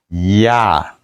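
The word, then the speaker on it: я: Et R renversé en russe se prononce comme ya, ya, ya.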